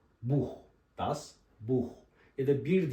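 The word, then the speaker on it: Buch: Das Bu kitap demek buh Mesela bu hani yukarıda ş gibi okunuyor demiştim ya buna buş diyemeyiz Yani kalın h harfi veriyor buh Das buh ya da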